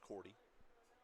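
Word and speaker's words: Cordie: Cordy is spelled C O R D I E. Pronounced Cordy.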